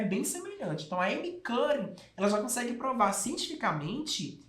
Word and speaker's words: Amy Cuddy: Quem fala isso é uma pesquisadora norte-americana de Harvard, a Amy Cuddy. Antes, como eu não conseguia pronunciar o nome dela direito, eu lia Amy Cuddy. Não é Amy Cuddy, é Amy Cuddy.